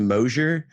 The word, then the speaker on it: Moiser: Now, is it Moiser? It's actually just pronounced Moiser. It's just spelled all weird.